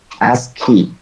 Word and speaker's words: ASCII: It is pronounced as S and then KEY, ASCII.